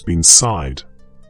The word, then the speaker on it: bean sídhe: In the Irish language, she is known as being sídhe, and the pronunciation of these words carries within it the weight of centuries.